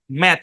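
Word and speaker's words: match: শব্দের উচ্চারণ কি ম্যাচ এখানে টি সাইলেন্ট ম্যাচ ম্যাচ মানে কি ম্যাচ মানে ওই যে বাংলাদেশ বনাম হ্যাঁ কোন দেশ বলবো বাংলাদেশ বনাম পাকিস্তানের ম্যাচ ধরেন বাংলাদেশ বনাম ভারতের ক্রিকেট ম্যাচ এখানে টি টা সাইলেন্ট ঠিক আছে ম্যাচ এটার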